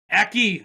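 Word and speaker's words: Aki: recording booth being like a key he's like it's hockey what it's pronounced a key not saying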